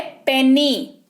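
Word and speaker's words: penny: पेनी, अगला है पेनी। पेनी का मतलब भी पैसे ही होते हैं, ठीक है। पेनी, यहां पर भी वाई है लास्ट में, लेकिन ई जैसा उच्चारण हो रहा है।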